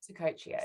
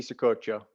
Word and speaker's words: Secotio: Well, the soft C's, Secotio. Secotio. So it's Italian, isn't it? Yeah, it would be if you were in Italy, it would be Secoccio, but just for everybody in like America, it's a big family. It's Secotio.